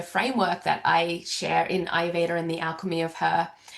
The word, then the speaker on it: Ayurveda: I keep looking at the spelling of Ayurveda and I'm like, Ayurveda is how we pronounce Perfectly.